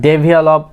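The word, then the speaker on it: develop: আমরা কি বলে থাকি ডে বলে থাকি, বাট it will be ডি, ডেভেলপ, ডেভেল আপ, ডেভেল আপ, ডেভেল আপ। লাস্টে এই যে এখানে কি লপ না হয় কি হবে ডেভেলপ, ডেভেলপ, ডেভেলপ।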